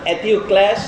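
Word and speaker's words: Ἐτεοκλῆς: আদেশ দিয়েছে আমাদের দুই ভাই, একজনের নাম অ্যাথিওক্ল্যাস আর একজনের নাম পলিনেকেস। আপনারা ইংরেজিতে ভুল উচ্চারণ করে, পলিনিসিস বলে, কিন্তু এটা গ্রিক উচ্চারণে করছি আমি, সি থাকলেও কে উচ্চারণ হয়।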